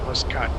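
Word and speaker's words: Muscat: Okay, it's not mus 128. At least the pronunciation that I know is mascot and we're overtaking our friend here.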